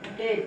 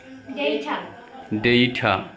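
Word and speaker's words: data: তারপর মে সঠিক উচ্চারণ হবে মেই মেই তারপরে ডেট ডেট ডেট সঠিক উচ্চারণটা কি হবে ডেট ডেট তারপরে গেট গেট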